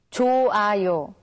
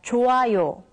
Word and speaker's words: 좋아요: When the character hyut meets with iung, the character hyut becomes silent, so it's pronounced as 좋아요.